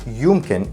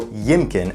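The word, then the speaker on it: يمكن: In standard Arabic, yumkin is the main way of saying maybe, and you can even add suffixes to it and everything. So it's very versatile. In spoken Arabic though, yimkin, as it's pronounced, is not as commonly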